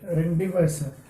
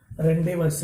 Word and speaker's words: rendezvous: Rendezvous. Here the spelling is given Rendezvous. Rendezvous. It is not a rendezvous. Z is silent here because it is a French word.